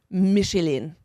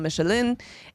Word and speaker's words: Michelin: with the founder franois Michelin and this I think it's just Michelin it's michelon Michelin this is from a